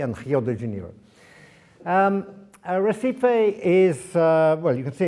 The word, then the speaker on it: Recife: One was Recife, or Recife, as they would say in Portuguese, because you don't pronounce the R, so it should be